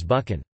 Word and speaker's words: Buchan: commonly appears today in the typically Scottish word loch and in names such as buchan. Here the x, is usual in Scotland, although the alternative, k, is becoming more common among some younger speakers.